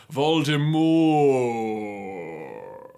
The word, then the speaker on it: Voldemort: can't spell the word Voldemort. No, I can't spell it. Like, seriously, dude? It's spelled exactly the way it sounds, unless you're one of those people who's like, Voldemort.